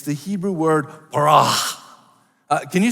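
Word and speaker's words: בָּרָא: The better you roll your R and the longer you hold on to that A, the better it will sound, the more impressive you will be, right?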